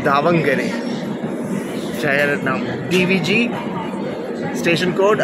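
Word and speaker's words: Davangere: So actual pronunciation দাবাঙ্গেরে, জায়গার নাম DBG, station code, আর 2 minute দাঁড়াচ্ছে এখানে, 10 মিনিট লেট ট্রেন।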